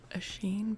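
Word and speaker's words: Oisín: Osheen, by the way, is one of my favorite uh Irish names.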